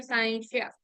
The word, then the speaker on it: scientia: You can pronounce it as scientia or scientia.